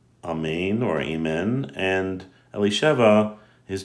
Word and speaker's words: amen: listening to this blessing you should say amen or amen as it's pronounced usually in the hebrew then when you should